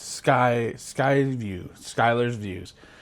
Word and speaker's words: Schuy: And yes, that is not Sky. It's S C Hu Y, which could also be pronounced school. But I that's how my name is spelled and it's always been pronounced Skyler.